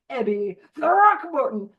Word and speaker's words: Throckmorton: Throckmorton. I'll put my Evie Thatcher little design that I got in the chat in a little bit. That is the correct pronunciation, Ebby Throckmorton.